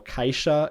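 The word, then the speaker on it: caixa: of shirt and jeer there are also some diphthongs where in Spanish there aren't so for example kaisha in galithian which means box whereas in Spanish you would just say Kaka with one vowel and kesho which means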